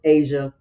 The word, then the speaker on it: Aysia: And that's what happened with Asia and Jason. I think I'm saying it right. It's spelled Aysia, so I'm thinking it's Asia.